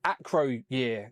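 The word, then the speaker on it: Acroyear: Micronaut issue one acro year no I'm still see I can't ac my brain when I look at the As soon as I look at his name, I just want to say year because I see the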